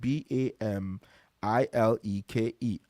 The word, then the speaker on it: Bamileke: Bamileke is spelled b a m i l e k e.